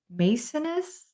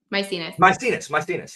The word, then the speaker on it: Maecenas: making me think of, and I'm going to mispronounce his name. I'm sorry. Is it Maecenas? Maecenas.